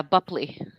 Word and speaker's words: Bupley: Is it Bupley? I never knew how to say it. Yeah, Bupley. Okay.